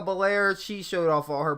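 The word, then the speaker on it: Belair: referee or an announcer pronounce her name Bianca bel-air she showed off all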